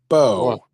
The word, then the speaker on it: Beau: That's Bo. Bo. It's pronounced B. Bo. Bu. Well, if if you say beautiful, it's beautiful.